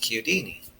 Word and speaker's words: Chiodini: out here, I'm like, we're gonna pronounce it like they do in Italy, how it should be pronounced, in my opinion, because it's my last name. Yeah. Pronounced Chiodini.